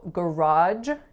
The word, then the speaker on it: garage: So garage in the States tends to be pronounced with a j at the end, but I grew up pronouncing this as garage with a j at the end, which would be more similar to the French pronunciation.